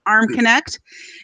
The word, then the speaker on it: Armconnect: He's, despite the consonant to vowel ratio in his name, it's just pronounced Armconnect.